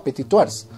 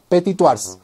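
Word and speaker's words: Petit-Thouars: idea de qué significa petit tours para empezar les digo que es un apellido francés y se pronuncia su apetito la s al final es muda no se pronuncia el nombre completo de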